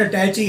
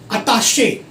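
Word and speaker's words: attaché: Then सबसे mispronounce word है अटैची. नाउ इट्स नॉट अटैची. अटैची वो पकड़ने वाली होती है. अताशे, ये वाला वर्ड अताशे.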